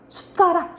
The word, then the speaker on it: 숟가락: 근데 술인데 우리 발음은 이제 어떻게 한다는 거야? 숟가락, 술가락이 안 하잖아, 그치?